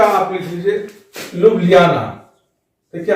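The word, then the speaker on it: Ljubljana: Slovenia का आप लिख लीजिए लुब्लियाना। देखिए, आपको एटलस में L के बाद J मिलेगा, J साइलेंट रहता है और इसलिए इसका उच्चारण नहीं होगा।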